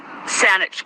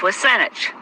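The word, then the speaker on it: WSÁNEĆ: a small party, but Saanich Gulf Islands is, of course, mispronunciation of Wasanich, the traditional people of this territory, and to them in the language of this territory, Sanchothan, Haishkasem.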